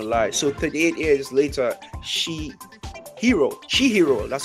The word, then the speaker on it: Chihiro: So 38 years later, Chihiro. That's how you pronounce his name.